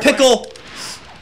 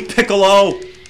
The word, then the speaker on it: Piccolo: best sand out of us oh come here pickle hey who did that okay oh the burning auras your face with me piccolo oh snap did it just pronounce his name